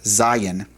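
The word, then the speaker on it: זין: And so uh that's another one that is fairly easy to remember and pronounce. Zion.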